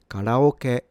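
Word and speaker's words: カラオケ: This is pronounced KARAOKE, KARAOKE, KARAOKE, KARAOKE. So first and foremost, for the pitch, this is a low to high. Ka starts low, ra is already high, and then it stays high.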